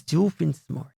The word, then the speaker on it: Doofenshmirtz: It's Doofenshmirtz. Oh, thank you, sir. Austin corrected my pronunciation.